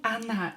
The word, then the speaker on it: она: Он, она читает. Он, она читает. Читает. He, she reads. Он, она. Here, O will be pronounced as A because it's not stressed.